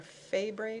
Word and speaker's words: Fabry: Fabry disease, or Fabry disease, there's a couple different pronunciations of that.